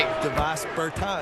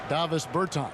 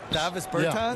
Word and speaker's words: Davis Bertans: Davos Bertans. That's so dirty. Is that how you say his name? Huh? Davis Bertans. Davis Bertans?